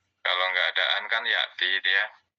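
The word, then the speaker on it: يأتي: Kalau nggak ada an kan ya'ti dia. Ya'tiyu. Dia muqaddarah. Ya'tiyu tapi dibacanya ya'ti saja.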